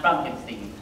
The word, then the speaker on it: Frankenstein: that is that frankstein my name is pronounced frankinstein yes yes yes